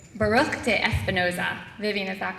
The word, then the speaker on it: Baruch de Espinoza: including dates I have to make sure I'm pronouncing this right Baruch de Espinoza Vivian is that correct yeah okay that's good